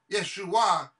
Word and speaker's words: Yeshua: Jesus name Yeshua Yeshua if you pronounce it Yeshua it is salvation it literally means salvation it's the word for salvation I could say in